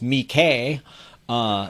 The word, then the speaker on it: Mickey: weekly comics magazine dedicated to mickey which is pronounced me k uh there that's i looked it up me okay